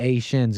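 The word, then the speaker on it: Haïtiens: talking about the Asians if you're French you'd say you you you won't pronounce the h they're they're the a shins if you're Kea and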